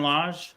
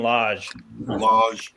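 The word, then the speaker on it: Lage: his last name again I think it's Julian Lodge l-a-g-e all right guys I'm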